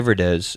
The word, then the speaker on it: Verdes: first time we did this I pronounced his name wrong so Thai Verdes and the album is called TV um this